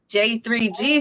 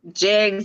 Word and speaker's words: J3Gs: J3Gs. Now that I know how to say your name properly, sir, I will from now on. What's the Dolores, proper way of saying my name? J3G's farm, not Jegs.